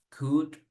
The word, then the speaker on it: could: ¿Cómo se pronuncian? Solo con la U y la D. Should, could, would.